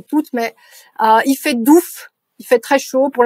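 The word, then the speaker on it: doef: fait ça en nerlandais si vous écrivez o e ça se prononce ou comme o ou en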